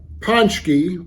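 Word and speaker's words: pączki: year is the uh ponki although it's spelled a little differently than it's pronounced I believe the singular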